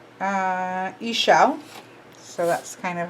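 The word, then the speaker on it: Ixchel: Ishal or Ishal is how this is saying to pronounce it. Let's see what this one says and see if we have a conflict of pronunciations. Ishal.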